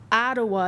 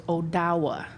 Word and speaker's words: Odawa: The next tribe we have is the Ottawa is the colonized word, but the correct way is Odawa. The Odawas are the keepers of the trade. So thinking back to the fur trade, the Odawas are the ones that